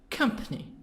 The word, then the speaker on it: company: company part two parts camp company three parts so this word is three parts three syllables stress in the beginning here come company company this word die direct